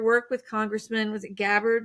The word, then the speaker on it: Gabbard: And your work with Congressman was it Gabbard, right? Is am I pronouncing her name right?